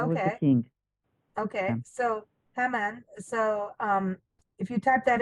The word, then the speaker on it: Haman: Am I saying it right now? Haman? Yes. Yes. Okay, Haman. I'll get Haman. there. Yes. Haman. Okay, like ham.